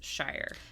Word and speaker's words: shire: In the UK, if it ends in shire, if that's the end of the word, it's pronounced sure or sheer. Yep. And then alone, standing on its own, it's shire.